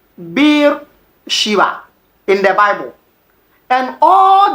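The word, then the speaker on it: Be'er Sheva: And in Hebrew, the main pronunciation of this place is Bir Shiva with V.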